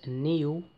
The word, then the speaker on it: NIU: about electric uh scooter the company name is new niu i believe that's how you pronounce it they are based in